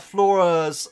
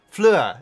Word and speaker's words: Fleur: So the school has gone to the World Cup, or at least Flora's. I always get her name wrong. Fleur, isn't it?